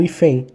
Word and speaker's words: hífen: Eu falo hífen, eu não falo hífen. Então, o I é a sílaba mais forte, está no número 2.